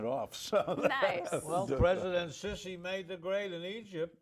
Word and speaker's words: Sisi: Well, President Sisi made the grade in Egypt. He's in charge. He was a general. He stepped down. He got President rid of Morsi. Sisi.